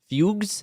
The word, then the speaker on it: fugue: Uh in some cases, terrifying visions were followed by fugis, which is an old term for like fugues. It says it says fugues. Yeah. Fug. It's pronounced fugue.